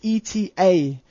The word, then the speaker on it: eta: surface normal input, and ETA, or eta, as we know to be, is actually the refractive index. So eta, or eta, however you want to pronounce it, is the refractive index.